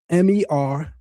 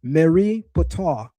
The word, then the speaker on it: Merneptah: The name of the pharaoh is in Medu Neter pronounced Meri Ptah, which means the beloved of Ptah. It comes into Greek as Merneptah.